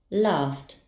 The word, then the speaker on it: laughed: The ed ending will be pronounced as t. Laughed, laughed.